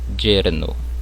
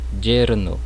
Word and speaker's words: yerno: No início da palavra, ela vai ter um som semelhante ao J do português, ó, yerno, mas eu posso pronunciar também com som de I, como em yerno, né? Que significa genro. Eu posso pronunciar tanto como som de I como um som de J, né?